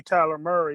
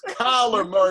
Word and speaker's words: Kyler Murray: I already gave you Tyler Murray. You want me to give you a good doctor? Jim, I want you to say his name right. It's Kyler Murray with a K.